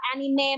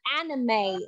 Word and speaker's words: anime: Ở đây mình trong tiếng Anh thì mình sẽ không đọc là anime, mình sẽ đọc là anime. anime. Đúng rồi, anime là mình đọc tiếng